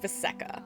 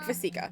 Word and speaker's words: Vasika: I actually heard the other day that Vasika is pronounced Vaseka, but I like Vasika better.